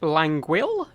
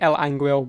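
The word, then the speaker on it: L'Anguille: And in the final, a map I'm no longer allowed to say because I say it wrong every time apparently, but Languil, I believe it is. I say El Anguil, but I'm British, I'm allowed to get away with it.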